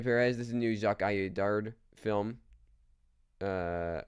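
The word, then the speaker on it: Audiard: this is new zc aard film uh or aard is how you say his name um I mean you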